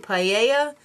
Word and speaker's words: paella: Is it paella or is it paella? It's paella. Alright, so just settle down, Toby.